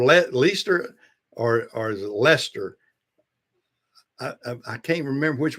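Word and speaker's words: Leicester: I was thinking yeah it's pronounced Lester but yeah it's a funny spelling name actually had a lot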